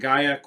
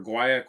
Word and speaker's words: guaiac: The heart evolves with earthy vetiver characters, spicy patchouli, and guaiac wood or guaiac wood. They're both correct pronunciations technically.